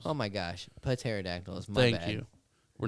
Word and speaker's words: pterodactyls: all these are educated pterodactyls and they want you to pronounce the p so pterodactyls oh my gosh pateradactyl thank you we're not